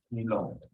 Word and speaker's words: Millau: Ese viaducto es, según Google, su pronunciación es el viaducto de Milón, ¿no? Y bueno, se escribe, y los que sepan francés, pues se escribe así, Millau, ¿no?